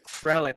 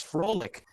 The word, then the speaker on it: Frelic: this question uh so my last name as it says up there is frelic but i often get people who slightly mispronounce it as frolic and so that's my